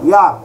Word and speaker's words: heir: ইয়ার, underline করো ইয়ার, এটা উচ্চারণ যারা জানো না তারা ভালো করে জেনে নাও, ঠিক আছে?